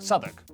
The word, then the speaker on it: Southwark: W at the start of the final syllable is silent. Norwich, Berwick, Southwark.